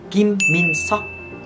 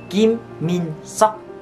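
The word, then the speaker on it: 김민석: Nhưng mà tên cúng cơm của Siumin đó chính là Kim Min Seok. No no. Kim Min Seok. Kim Min Seok.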